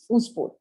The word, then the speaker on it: oospore: यस, हु was that student जिसने पूछा था इसको कैसे प्रोनाउंस करेंगे? तो इट इज मैंने oospore. पूछा था। Yes, oospore.